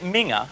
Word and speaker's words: Minge: He pronounces it Minger, but it's spelled M-I-N-G-E.